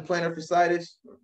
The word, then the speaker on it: plantar fasciitis: Myles Turner, instead of having plantar fasciitis, that's how you say it.